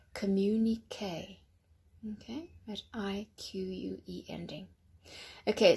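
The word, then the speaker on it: communiqué: Communique. Yes, that's a strange ending. It's French. Communique.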